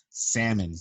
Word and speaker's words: salmon: Salmon, okay? Salmon. The L is silent, but with this pandemic, you're allowed to pronounce the L, okay?